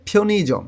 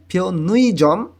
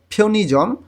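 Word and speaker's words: 편의점: অর্থাৎ উই যখন কোনো শব্দের মাঝামাঝিতে চলে আসে তখন কোরিয়ানরা এটাকে শর্ট করে ই উচ্চারণ করে, উচ্চারণটা সুন্দর এবং দ্রুত করার জন্য। এখানে উচ্চারণ হবে ফিওনিজম। হ্যাঁ, ফিওনুইজম এরকম উচ্চারণ করলে ভুল হবে।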